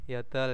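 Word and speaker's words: 여덟: Yodol. Yodol ya, yodolep. Paling enak itu dihafalkan yodolep. Bacanya yodol.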